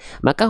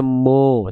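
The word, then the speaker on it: مَ: Maka huruf mim termasuk ke dalam huruf yang tipis. Kenapa? Karena ketika berharokat baris atas, dia bukan dibaca mo, tapi ma.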